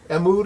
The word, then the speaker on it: Mood: Mood is how you say it, the guys that made Juicy Fruit, Mood.